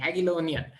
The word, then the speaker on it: Jagiellonian: You know, the pronunciation is slightly hard, but I read about I read about the Jagiellonian University and Jagiellonian, right? Jagiellonian. Yeah. Jagiellonian, yes, exactly, Jagiellonian.